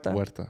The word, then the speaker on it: Huerta: big it's because we you don't pronounce the h i don't i think it's silent uh huerta yeah i i do